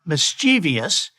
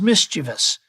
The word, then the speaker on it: mischievous: A child is not mischievous, he is mischievous.